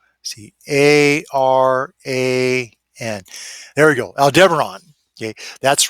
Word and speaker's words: Aldebaran: Now, it's not Alderaan, which was destroyed by the Death Star in Star Wars. It's called Aldebaran.